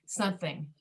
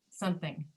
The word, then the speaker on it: something: But when you say something, you don't pronounce the middle M. You're saying something, something.